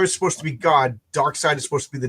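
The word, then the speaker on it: Darkseid: How do you pronounce it? Is it dark seed or is it dark side or is it dark she? You know I've always heard it as dark side.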